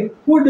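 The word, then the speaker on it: could: का उच्चारण नहीं होगा इसी तरह से कुड में एल का उच्चारण नहीं होगा और इसका अर्थ होगा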